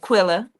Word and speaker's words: Quilla: And I see, is it Sister Quilla? Is that how you say her name? Or is it Keela? My tribe, Quilla. I said it right.